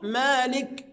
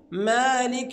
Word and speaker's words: مالك: وجل مالك طبعا ا البعض ينطق خطا فيقول مالك ويسكنها مثلما نطقت هكذا وده خطا البعض يا احبابنا ينطق فيقول مالك يوم الدين فيولد من الكسر ياء